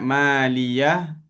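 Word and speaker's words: ماليه: Dekat maliah kita sukunkan tapi kita tahan nafas kita. Itu saktah.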